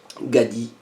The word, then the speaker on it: 가디: Donc le nom du Pokémon se prononce Gadi.